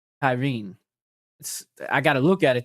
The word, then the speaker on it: Tarín: And I believe you pronounce her name, Rahena Tyne. Now, I would have called her Regina. Regina Tyran tan to tan or something. But it's Raa Tyne.